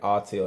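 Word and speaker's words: Autel: It's called a artel. Everybody put artelail in the chat. It's spelled A U T E L.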